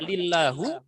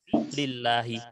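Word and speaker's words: لِلَّهِ: lagi lillahi taala nah dibacanya tidak lillahu atau lillaha tetapi lillahi Kenapa karena lam di sini huruf yang menyebabkan kasr seperti yang saya Tandai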